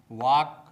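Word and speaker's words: walk: काम काम palm palm half half वाक वाक टॉक टॉक योक योक आमज आम बाम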